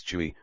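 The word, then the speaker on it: 吹: associated with the lungs chewy pronounced like qui with a forceful exhale which is associated with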